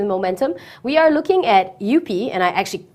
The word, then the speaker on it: Eupe: Moving on to our stocks with momentum, we are looking at Eupe, and I actually called the company, and this is how you pronounce it, Eupe Corp Bhd.